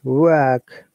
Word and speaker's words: work: It is work. R sound, but longer sound. You can see that Phonetics, it is R sound, R. Okay, British IPA.